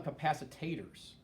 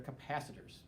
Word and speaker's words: capacitor: store basically energy so don't call them capacitators right they're capacitors but some people you know mispronounce it but a capacitor is